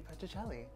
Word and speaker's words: Petrucelli: Petrucelli. I was going to say Celli. I mean, it's not Is wrong. That wrong? That's not wrong. Oh, the Matthew Petrucelli.